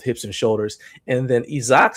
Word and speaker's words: Isaac: Isaac. Isaac, okay. I'll tell you something. When I interviewed him, I actually spelled his name Eezak, just so I would say it right.